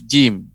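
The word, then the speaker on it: جيم: Dan tidak boleh pengucapannya ditekan. Ja, nah, demikian. Itu keliru, ya. Ditekan kuat. Ja, tidak, ya. Tapi dia menempel, ya, tengah lidah, menempel langit-langit, ya.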